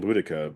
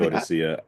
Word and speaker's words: Boudica: prefer saying Boudica, but it could be I, I, Bodicea. I I, don't know. you know what? Let's say the official policy on doctors, not doctors, is that it's pronounced Boudica.